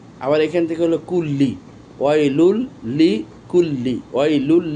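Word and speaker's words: ويل لكل: তাহলে এ পর্যন্ত ছিল ওয়াইলুল লি, আবার এখান থেকে হলো কুল্লি, ওয়াইলুল লি কুল্লি, ওয়াইলুল লি কুল্লি, ওয়াইলুল লি কুল্লি, ওয়াইলুল লি কুল্লি, ওয়াইলুল লি কুল্লি, ওয়াইলুল লি কুল্লি।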